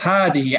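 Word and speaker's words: هذا: and happy / - so Hardy he is pronounced that that it's pronounced had he it's not pronounced heli he it's pronounced Hardy as if there was an Aleph after the her okay so this is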